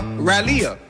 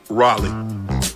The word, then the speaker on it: Raleigh: You mean Raleigh? Raleia. Oh, okay. Close enough. That's how you say it. How you say it again? Raleigh. You for real? Yeah. But it's spelled R A L E I G H.